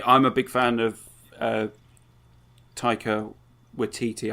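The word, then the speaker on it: Taika Waititi: a big fan of Tyco with teetee I think that it's definitely how you pronounce it now I've seen enough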